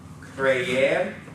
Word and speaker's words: creer: Creer, and be sure to pronounce those E's separately.